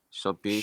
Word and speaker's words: shopping: Shopping, shop. Shopping. Shh. Shopping. So shopping, you have to your mouth. Shh, you have to like kind of pucker your lips.